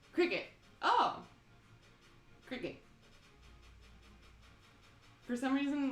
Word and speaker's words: Cricut: A cry cut. I thought it was called a die cut or something. Pronounced like the bug. Cricket.